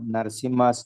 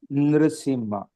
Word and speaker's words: Narasimha: Wherever Lord Narasimha's name is there, either you can pronounce as Narasimha or Nrsimha. Both are correct.